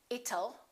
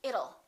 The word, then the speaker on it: it'll: Don't say it'll. Let's change that T into a fast D and say it'll. It'll rain. It'll be hot. It'll be nice. It'll rhymes with the word little.